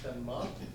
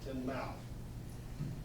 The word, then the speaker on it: Tinmouth: live in Tinmouth, Vermont, spelled Tinmouth, but pronounced Tinmouth. So if you ever come up, don't offend people calling it Tinmouth.